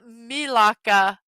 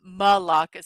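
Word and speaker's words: Melaka: It's Milaka, not Malaka. So I need to say Milaka when I pronounce the word in the Malaysian because the Greek Malaka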